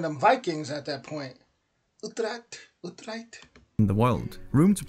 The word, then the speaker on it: Utrecht: That's how you pronounce that? Sounds like I'm one of them Vikings at that point. Utrecht.